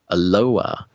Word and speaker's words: Aloha: Aloha. It's spelled aloha, but pronounced aloha, who is turning 8.